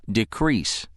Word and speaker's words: decrease: When it's used as a verb, it's pronounced decrease. When it's used as a noun, it's pronounced decrease.